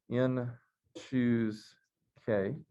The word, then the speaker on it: n choose k: symbolic so we've seen this notation which is pronounced in choose k but there's a definition that also would go